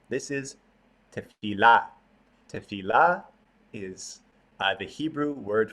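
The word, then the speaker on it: תפילה: Some people pronounce it with the accent on the last syllable, tefillah. Some people pronounce it with the accent on the middle syllable, tefillah.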